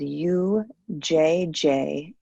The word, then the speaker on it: Ujjayi: It's spelled Ujjayi.